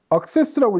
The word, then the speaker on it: AXXESS: 어제 눈도 오고 오늘 날씨도 굉장히 추운데 이렇게 또 뜨거운 열기로 악세스라고 읽어야 되겠죠?